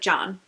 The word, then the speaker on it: Can: His first name is C-A-N. And it's pronounced like John.